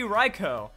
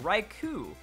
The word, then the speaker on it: Raikou: and that's gonna be raikou I don't know why that U is there honestly like all it does is cause confusion because since that you exist it's like oh raikou but right who doesn't